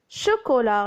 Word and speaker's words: chocolat: Chocolat, le son ch avec O, c'est chaud. Cola, et la lettre T est muette.